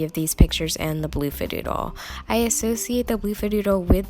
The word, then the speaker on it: Bloofadoodle: It was a really silly mistake, and it was really obvious that it was the Bloofadoodle, not the Bluffadoodle.